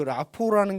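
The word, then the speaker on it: rapport: 이게 불어여서 T가 이게 묵음 같은데요. 어쨌든 그 라포라는 게 가져오다 참조하다는 프랑스어에서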